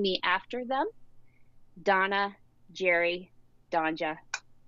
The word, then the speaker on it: Donje: my name so um i get don g a lot because it's d-o-n-j-e yeah um so never donja which is how it's actually